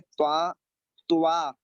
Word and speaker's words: त्वा: तो यहाँ पर लिखा हुआ है त्वा, इसमें आधा ता बना हुआ है, त्वा यानी कि पूरा वा बना हुआ है।